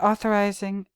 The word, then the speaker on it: authorizing: authorizing ah okay uh authorizing accented on the second author oh Lord author also okay so so uh is accented authorizing accented on the second syllable or syllable trespass equals